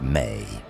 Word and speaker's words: me: The tablets also describe something called the me pronounced may which were divine decrees or natural laws that governed all aspects of civilization.